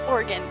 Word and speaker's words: Oregon: My aunt is from Oregon, and I can confirm it's pronounced Oregon.